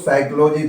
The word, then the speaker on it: psychology: उसके बाद है मनोविज्ञान, जिसको हम लोग साइकोलॉजी पढ़ते हैं। यहाँ P साइलेंट है, PSYCHOLOGY, साइकोलॉजी।